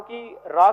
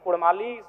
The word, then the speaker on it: कड़ा: सर्वे कर लीजिए कि उन व अगर उच्चारण भी करेंगे ना तो वो कारा कहेंगे रा कड़ा नहीं बोल पाएंगे तो कोई जो भाषा